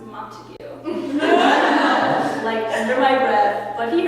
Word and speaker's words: Montague: This one guy, he was reading the prologue or something and said the House of Montague, and I was it's pronounced Montague.